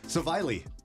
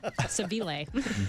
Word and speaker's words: Seville: You were so worried it was I pronounced was. like I really- Savili. Nope. Sevilla. Seville.